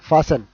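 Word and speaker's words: fasten: Okay, ఇక్కడ ఫాస్టెన్ కాదు, ఫాసన్. ఇది ఎక్కడ అంటూ ఉంటామంటే ఫాసన్ యువర్ సీట్ బెల్ట్.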